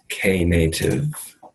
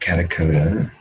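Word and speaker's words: Knative: a brief overview of K native not kind of coda all right can you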